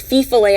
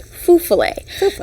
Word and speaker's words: Feu Follet: to point out that I thought it was pronounced Feu Follet at first, but I interviewed a former folklore professor, and he said that it's actually pronounced Feu Follet.